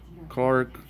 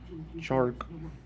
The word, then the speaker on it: Chark: Clark. Or, how do you say his name? Chark.